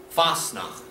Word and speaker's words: Fasnacht: lent your word fast enough let's say that spell that f of s n ah c'est pas teh Fasnacht and one that's used to lock by Pennsylvania